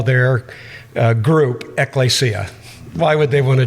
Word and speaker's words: Ekklesia: Or he said it's Ekklesia, like Hispanic or something.